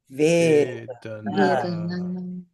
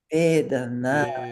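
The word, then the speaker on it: vedanā: The A is always long. It's a free gift. Whenever you see an A in Sanskrit, you don't have to think about it. It's long. And the last is long. So Vedana, say with me. Vedana. Vedana. Make that last one nice and long.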